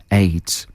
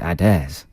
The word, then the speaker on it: Adez: yeah and it's called aids and how's it spelled a d e z as probably pronounced adairs but it reads a d e z aids yeah that's not too